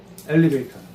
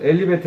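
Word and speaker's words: elevator: 리프트나 엘리베이터 리프트 타고 올라가고 lift 올라가는 거예요. 리프트 우선 엘리베이터 해 볼게요. 영국식은 봐요. 엘리베이터 발음하죠. 미국식은 T 발음이 거의 R 발음 비슷하게 돼요. 엘리베이터처럼 들리지. 그죠? 둘 다 맞아요.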